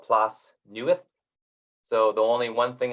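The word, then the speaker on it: Plas Newydd: uh Mansion um further down manai straight called plus newest so the only one thing I remember about Welsh language is when you see 2DS it's pronounced th so that's plus new it um the Welsh language is extremely difficult to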